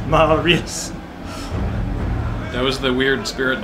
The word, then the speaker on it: Marius: Three syllables. Marius. Not Marius. Marius.